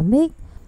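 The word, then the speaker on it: Muick: Nữ hoàng đặt tên cho Muir, phát âm là Mick, theo tên hồ Loch Murs trên điền trang Balmoral, Scotland.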